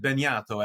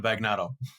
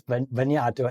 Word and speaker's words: Bagnato: I know either somebody has Italian background, is located in Europe, or speaks Italian when they pronounce it Bagnato as opposed to Bagnato. Yeah, it is Bagnato.